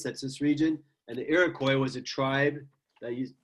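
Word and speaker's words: Iroquois: this is called if you lived with the iroy that's how it's pronounced iroy iroy it looks like iroise or something it's iroy all right it's a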